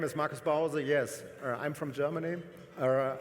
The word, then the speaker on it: Markus Bause: My name is Marcus Bowser.